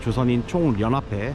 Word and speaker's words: 조선인 총연합회: 북한에서는 두음 법칙을 인정하지 않기 때문에 조선인 총연합회 이렇게 발음을 합니다.